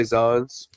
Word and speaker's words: Zans: Wait, is it is it Z or how do you say you know him right? I say I say Zans.